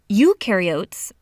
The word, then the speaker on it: eukaryotes: up eukaryotes the U rhymes with do they do have membrane-bound